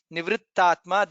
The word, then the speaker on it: निवृत्तात्मा: Nivrittatma, there is takara and additional takara. Nivrittatma is there, so you should pronounce that clearly.